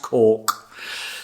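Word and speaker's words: caulk: thing but it's pronounced cork C AU l k and you pronounce it cork as in that place in Ireland c r k pronounce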